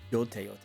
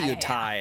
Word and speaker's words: Yotei: Is it Yotei or Yotai? I'm so excited too. Yotei. Okay, I always say Yotai, and I know I'm pronouncing it wrong.